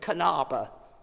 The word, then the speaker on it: Knabe: The only thing is, unlike us, they don't have a silent K. So you pronounce the K at the beginning of Kanaba.